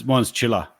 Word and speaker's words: Chilla: Mine's Chilla. My surname is pronounced Killa, so yeah. Oh, I'm pretty sure I butchered it like 100 times. Everyone does. They spell it like CHILLER or however, but yeah.